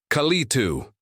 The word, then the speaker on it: Kalitu: Or is it Akatu? How is it pronounced? Its voice boomed, Kalitu.